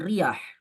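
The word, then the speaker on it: رياح: diperjelas Bagaimana cara membacanya bikasir almuhmalah almuhmalah artinya tanpa titik Ya ini untuk membedakan antara ro dengan Zai ya kalau Zai berarti mujamah eh dengan mengkasrahkan Ro Jadi RI dibacanya baaha setelahnya ya ya ya yang merupakan huruf terakhir dalam urutan huruf hijaiah kan ya huruf terakhir ya jadi jelas dibacanya ri r kemudian tadi di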